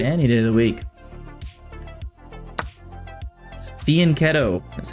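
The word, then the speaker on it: fianchetto: Fianetto is how you pronounce it.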